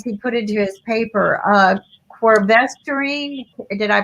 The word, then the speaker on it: quercetin: Quercetin, did I pronounce that right?